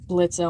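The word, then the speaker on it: Blitzø: Yeah, before you freak out saying the O is silent, how are you gonna know what Blitzo I'm talking about unless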